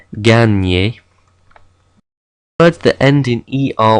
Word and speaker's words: gagner: GN in French is similar to the Spanish N with the tilde. It makes a ny sound. Okay, we don't pronounce the G and the N separately. It's a ny, as in gagner.